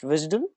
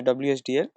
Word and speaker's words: WSDL: via the visal file okay it's called It's pronounced visal okay or you could even call it pronounce it by the letters you could say wsdl okay wsdl is web service definition language okay